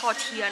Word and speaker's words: tortilla: It is pronounced as 'Tor-tia', not 'Tor-ti-ya', like how I pronounced it wrongly since the start The cheese smells so